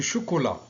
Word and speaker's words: chocolat: Du chocolat. On n'entend pas le T.